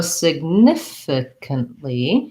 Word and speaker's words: significant: motor practice piece so significantly has second syllable stress it has the vowel in many of its syllables so sig nif so this could be an or a schwa significant or significant again